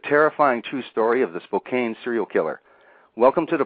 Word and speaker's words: Spokane: Well, it's a pleasure to be here, and for your future information, the town is called Spokane. Ah, Spokane.